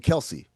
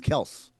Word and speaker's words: Kelce: They keep saying Kelsey. It's Kelce.